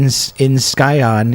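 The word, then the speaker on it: scion: The C in Skyon isn't pronounced, and scourge rhymes with urge.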